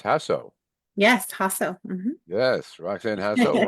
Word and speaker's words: Jasso: today is roxan and you said I was pronouncing it wrong it's hasso yes hasso yes roxan hasso one of our